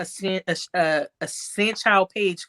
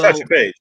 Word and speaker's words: Satchel Paige: Also, I'm gonna get me a Sanchow Page card if I'm pronouncing his name correctly. He's Oh, also Satchel Paige.